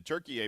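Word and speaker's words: Türkiye: I think in I want to say a couple years ago, the Turkish government requested that the United Nations change the country's English designation to Turkey A because that's actually how they pronounce it, and basically to distance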